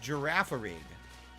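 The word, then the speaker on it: Girafarig: Undertaker how are you is pronounced giraffarig giraffe what did I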